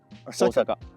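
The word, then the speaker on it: 大阪: What's the right way to pronounce it? Osaka.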